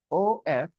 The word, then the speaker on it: of: OF is pronounced of, okay, word, not for. Okay. O double F is off. OF is of.